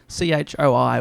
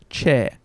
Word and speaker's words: Choi: did look up so the surname is spelt ch o I which often when I pronounced in western languages is Choi but they apparently say and I'm attempting this here chair right so I'll refer